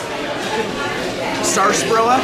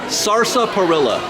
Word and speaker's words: sarsaparilla: how they spelled sarsaparilla sarsparilla sorry Saurus Saur Saur Saur perilla no sarsa perilla I know I looked